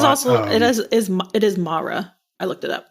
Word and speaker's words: Mara: and it is awesome it is it is mara i looked it up mara okay well i said it wrong in other episodes mara i'm so sorry yeah you're a beautiful human